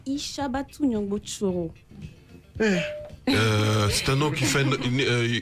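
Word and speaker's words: Ichabatou Gnongbo Tchoro: Alors, la prononciation de mon nom, c'est Ishabatu Nyongbo Choro.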